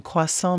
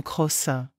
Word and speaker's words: croissant: Lisa une touriste allemande a commandé un croissant mais l'a prononcé comme crossin le serveur a souri